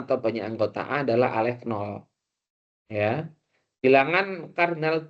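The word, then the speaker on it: ℵ₀: Bilangan kardinal himpunan bilangan asli N diberi notasi N0 seperti ini bacanya alef 0 teman-teman, atau alef 0.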